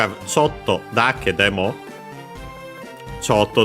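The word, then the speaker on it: ちょっと: Sotto, the usual adverb we've seen. Accent on the first mora.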